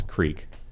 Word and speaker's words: creek: Crick is also how some Pennsylvanians pronounce creek.